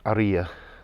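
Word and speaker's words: Haría: village or pueblo of aria spelt harrier h-a-r-i-a but pronounced aria the h is silent in spanish and there's an accent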